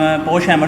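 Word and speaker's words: Pochhammer: ये जो POCH है, ये आपके पास पोश बनेगा और ये HAMMER ये हैमर, यानी कि इसको कंप्लीट आपने किस अंदाज में पढ़ना है, पोश-हैमर सिंबल।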